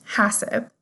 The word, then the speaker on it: HACCP: Many operations use a Hazard Analysis Critical Control Point (HACCP pronounced “hassip”) system to develop procedures for managing identified food hazards.